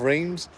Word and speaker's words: Reims: But yeah, we are in like the city centre of Reims, so it's only about a 10-minute walk away.